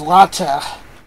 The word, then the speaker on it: LaTeX: tool i was using which is latte spelled like latex don't ask you know